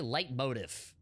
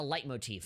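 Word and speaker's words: leitmotif: that life motif uh people always say light motive no you idiot it's a light motif and i know because my music theory teacher told me that that's how it's pronounced a light motif is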